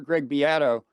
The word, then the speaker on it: Greg Beato: I did not mention your co-author, Greg Beato. That is the way he pronounces his name, right?